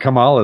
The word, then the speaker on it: Kamala: ] madeup stupid name I think it is Kamala Kamala is the right Kamala Kamala like the